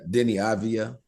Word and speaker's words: Deni Avdija: How do you pronounce his name? The kid, Deni Avdija.